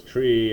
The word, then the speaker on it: trie: fredkin coined the term we pronounced this tree after the middle syllable of retrieval what we call them